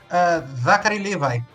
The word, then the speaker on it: Zachary Levi: O Zachary Levi, como que se pronuncia o nome dele? Ajudem-me. Zachary Levi.